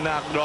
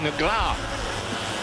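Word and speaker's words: Negrão: And the pronunciation, really, of Alexandrino Nagro, I'm told from my Brazilian friends, is more like Negra.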